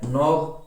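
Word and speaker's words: knob: के शांत है ना, नाइटिंग के शांत है, नॉब के शांत है, नॉक के शांत है, नॉट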